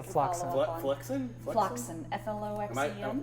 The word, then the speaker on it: Floxen: Floxen. F-L-O-X-E-N. Which way is it pronouncing correctly? Floxen? Flotsam. Floxen. Floxam. Like a flock of oxen.